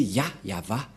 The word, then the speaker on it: Yahvah: Le nom prononcé par le grand-père Abraham, c'est Yava, et le nom initial de ce Dieu, c'est Yah. Voilà, c'est pourquoi le nom du Dieu d'Abraham, c'est Yahva.